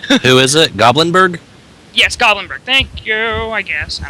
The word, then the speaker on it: Goblinberg: Yes, Goblinberg.